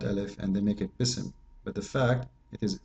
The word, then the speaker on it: بسم: We pronounce it, but we don't see it, right? But the fact it is there. If you want to say the word correctly, it is Bism, not Bism.